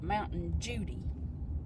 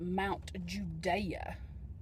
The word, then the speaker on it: Mount Judea: Actually, the locals pronounce it Mountain Judy. Yep, we southern, all right. We country. And we called it Mount Judy, but it's actually pronounced Mount Judea.